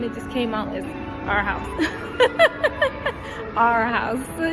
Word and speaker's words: Arhaus: It was kind of like a slogan, our house, the way it's pronounced, but it's not necessarily in the English form that you would understand. It's just like a name, but the sound of it is our house, like if it's our house to your home.